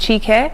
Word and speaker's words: Chiki: nigerian name so actually is not an uncommon name in nigeria normally pronounced chica yeah um my full